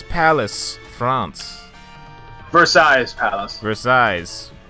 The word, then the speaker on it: Versailles: Why is there two L's if you don't... Why write two L's if you don't say them? I can explain that very simply. In France, you pronounce half the syllables.